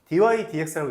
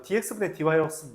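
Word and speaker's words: dy/dx: dy, dx라고 있습니다. 이거 dx분의 dy라고 읽으면 안 돼요. dx분의 dy 아닙니다. dy, dx예요. 그렇게 읽어요. dy 나누기 dx라고 읽지도 않아. 그냥 dy, dx가 이름이에요.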